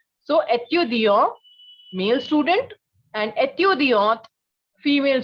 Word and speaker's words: étudiant: Listen, étudiant. The T will not be pronounced, and we know that the sound of E with such an accent is A.